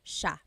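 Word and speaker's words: siya: So the s i y it's a sha sound sha.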